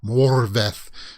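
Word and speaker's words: Morfydd: more morphine oh sorry the d's are pronounced like a th sound i was told morvath clark is glad real okay uh so this issue goes out june 9.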